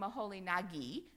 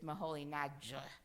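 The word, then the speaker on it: Moholy-Nagy: n by the way berer called him maholi Nagi I suppose that's the way they pronounced it when they were in Germany and I've talked to some hungarians who said no no no it's mahol NJ something like that anyway we know him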